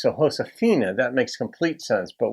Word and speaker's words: Josefina: it just makes sense the J is pronounced in Spanish as an H sound in English so hoshina that makes complete sense but we would say Josephina or if you're a